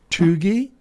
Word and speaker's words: cheugy: Chuggy? Chuggy, like CHUGY? Like it's CHEUGY, but it's pronounced chuggy.